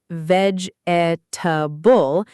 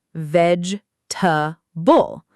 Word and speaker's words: vegetable: It's not vegetable, it's vegetable. Almost like the middle syllable disappears. This is where English rhythm becomes almost musical.